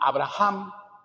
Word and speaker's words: Abraham: cambian el nombre a Abraham con na intermedia Lo tendríamos que pronunciar Como si fuese una j este escucha al señor